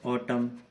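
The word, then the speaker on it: autumn: जैसे कि आपने सुने ही होंगे वर्ड ऑटम, एन आखिर में है, उससे पहले एम है, तो ऑटम, एन का कोई साउंड नहीं आ रहा है इसमें।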